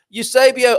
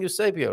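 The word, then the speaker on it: Eusébio: Eusebio, I got taught how to say your name properly yesterday. Did I not say? Have I not been saying Eusebio right?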